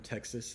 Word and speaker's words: Texas: I was feeling a little bit of Texas pride. So, but the X sound, it sounds like a KS, X.